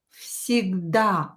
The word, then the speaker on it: всегда: So V will become F. Всегда.